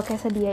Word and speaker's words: quesadilla: Anyway, kalau quesadilla ini, itu ya bacanya quesadilla. Kalau bahasa Spanyol itu double L dibacanya mirip Y.